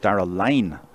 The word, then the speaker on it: Dara Lynn: And our thanks to Mortimer Murphy for also telling me that Dara Lynn is pronounced Dara Line.